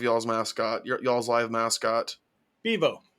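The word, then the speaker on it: Bevo: very particular about this but how do you pronounce the name of y'all's mascot y'all's live mascot bivo bivo yeah I think when bivo went after ugga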